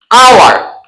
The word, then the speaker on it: hour: Same as hour. Hour is taking the sound of vowel, not consonant.